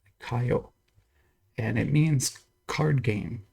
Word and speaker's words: Kayou: But someone was telling me that the correct way to pronounce this is like ka and yo, Kayou, and it means card game in Chinese.